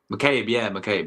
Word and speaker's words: McCabe: McCabe, yeah.